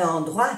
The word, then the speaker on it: endroit: Un endroit sûr. Un lugar seguro. Un endroit sûr. Sûr, seguro. Endroit. E-N-O-I-O-A. Endroit. Endroit. No se pronuncia la T.